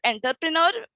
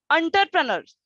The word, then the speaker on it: entrepreneur: so wrong pronunciation there were one speaker use enterpreneur which is wrong pronunciation the correct pronunciation is entrepreneurs uh like uh there is the word generally